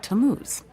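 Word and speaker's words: Tammuz: His name is Tamuz. To what? T A M M U Z. It's pronounced Tamuz.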